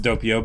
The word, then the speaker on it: Doppio: And Doppio is yeah, and I a believe word, it's pronounced Doppio, but it's Italian for double.